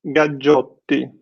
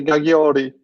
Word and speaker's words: Gaggiotti: In USA, they usually Gaggiotti. Okay. Usually. Well, and I knew the second G was more of a hard G than like a softer one.